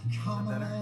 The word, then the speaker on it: Kamala: left her chamber, Beirut exploded, redwoods were embers, and if you need some help to remember, Kamala is how it's pronounced.